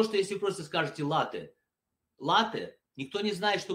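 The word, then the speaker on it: latte: Значит так, латей. Вот где здесь написано, что оно читается с двумя ударениями? Латей. Как вы произносите это слово? Starbucks, да, в любой кофейне. Вы говорите латте, правильно?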